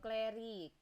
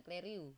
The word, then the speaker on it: clerihew: kedua itu ada eh clari clar gimana ini e bacanya k cliu nah kleru benar Kak Ifa kleru ini